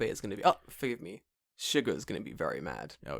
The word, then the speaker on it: Suga: Oh, when I made that, we did that calling him like Sugar. Yeah. I got a message from someone like, isn't it pronounced Suga? And I was like, yeah.